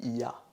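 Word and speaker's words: я: Donc, le pronom je se dit ya. Ya, comme en allemand en fait. Comme en allemand, ya qui veut dire je. Donc, on prononce ya.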